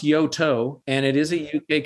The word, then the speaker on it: Yoto: the UK company is it yo yeah it's pronounced Yoto and it is a UK company and doing